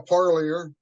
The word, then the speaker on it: Parlier: Do you mind pronouncing your full name? It's uh Parlier.